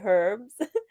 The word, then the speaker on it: herbs: keep whenever I see herbs I keep wanting to pronounce it with the H and say herbs or the British one yeah yeah yeah I